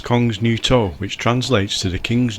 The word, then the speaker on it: Kongens Nytorv: of it as usual I believe the pronunciation is Kongens Nytorv which translates to The